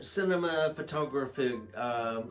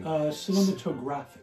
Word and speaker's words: cinematographic: And the cinema photography motion pictures, did I pronounce that correctly? Cinematographic.